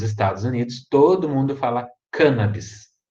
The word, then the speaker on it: cannabis: pronuncia errada né gente é todo mundo fala cannabis a pronúncia correta a gente cannabis proparoxítona cannabis porque foi cannabis que originou a palavra canhamo